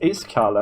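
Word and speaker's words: Iskall: Same as Iskal. And, yeah, but I'm less loud. I'm a less loud Iskal. Yeah, yep. His name actually is pronounced Iskal, and it means ice cold in Swedish.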